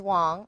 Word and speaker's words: Wang: my name is wong i know it's spelt w-a-n-g but mandarin chinese it's pronounced like w-h-a-n-g or w-o-n-g and i'm president ceo